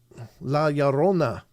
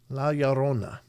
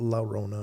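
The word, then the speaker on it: La Llorona: Laona. Laona. That's how you pronounce it. It's not Lona or Lorna or I've heard many different uh pronunciations, but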